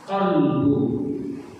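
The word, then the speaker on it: قلب: Kalau bahasa Indonesianya qo ditambah lam dan ba qolbu ya. Ada kalbu, ada kalbu. Coba lihat artinya. Kalau kalbu itu anjing, kalau kalbu itu hati. Nah, kalau salahlah bacanya, maka salahlah hatinya.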